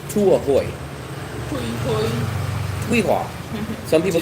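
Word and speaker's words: Tuy Hòa: I think it's called Tuahoy. Tuihua. Some people say Tuiha, some people say Tuahoy, but it's spelled T-U-Y. T-U-Y. The second word is spelled H-O-A.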